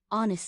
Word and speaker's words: honest: Yes, honest starts with a silent H, so it's a vowel sound.